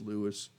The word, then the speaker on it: Louis: jazz players like like lewis armstrong and by the way he wanted his name to be pronounced lewis it's it's in the great tradition of the greatest jazz players like louis armstrong who used to